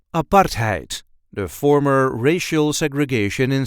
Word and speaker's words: apartheid: how we say aparte aart heite make sure to pronounce the A and not make it into an i aart heite there is a light emphasis on the second syllable aite a part height a part height I